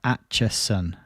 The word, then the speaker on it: Acheson: Acheson. Got it. I'll try and remember that. Why don't they just put a T in the name?